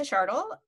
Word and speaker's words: Schardl: yourself um i'm shardle um rhymes with lisa shardle rhymes with startle um and uh you